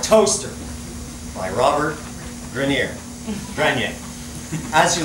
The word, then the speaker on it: Grenier: a poem by Robert Grenier, but I think because he's American, they say Grenier. Grenier. Okay, I say Grenier because it's a French name, and I like the sound.